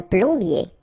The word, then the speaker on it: plombier: Remember O-M goes like O-N. So it's on. Plombier.